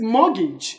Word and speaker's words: mortgage: try the pronunciation again again it is mortgage every Western luggage luggage luggage so T is what silent muggy so you you